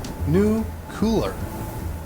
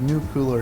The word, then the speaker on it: nuclear: Carter Clinton and Bush all use this nuclear mispronunciation and the correct answer that we were looking for is what is new cooler believe new cooler is how that's pronounced all right Kelly still